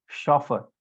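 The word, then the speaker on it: chauffeur: ठीक है, और उसके बाद फिर आप देखेंगे शॉफर।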